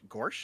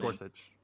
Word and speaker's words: Gorsuch: Is it Gorsh? I don't know how to pronounce it. Gorsuch. Gorsuch.